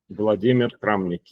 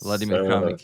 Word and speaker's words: Vladimir Kramnik: Is that pronounced correctly, Vladimir? Yeah. Vladimir Kramnik, yes. Vladimir Kramnik, yeah.